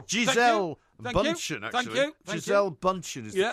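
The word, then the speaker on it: Gisele Bündchen: Giselle Bundchen is the correct pronunciation.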